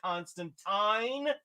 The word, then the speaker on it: Constantine: It's also got good Constantine, or as the Brits say, Constantine.